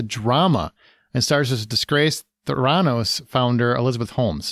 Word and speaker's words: Theranos: the story is, and it's Theranos, not Theranos, but you know, who's counting? I had a little bit of a Marvel tinge to it. You put the wrong syllable and the wrong emphasis, but or backwards even.